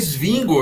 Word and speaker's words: Zwingli: do swingle em suíço swingle é a pronúncia lá o nome dele é singo eu fiquei impressionado Porque